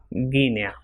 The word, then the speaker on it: Guinea: If after U comes E, for example, guerra, and it will be pronounced as gi if I comes after GU, for example, Guinea. And same is with QU.